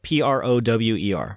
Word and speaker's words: Prower: that's his full name tails full name is miles per hour it's spelled p-r-o-w-e-r prower part of my childhood